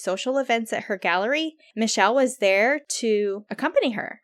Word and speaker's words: Michel: His name is Michel. It's Michel, but it's Michael. Like Michael, I guess. But yeah, Michael. But it is pronounced Michel Savage.